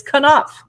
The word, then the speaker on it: Knopf: It's by Knopf, and I looked up the pronunciation of this publishing house because I was like, is it Knopf? It's Knopf.